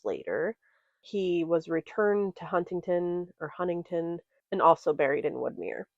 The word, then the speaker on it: Huntington: We actually, at least how I've always heard it, is Huntington. Huntington.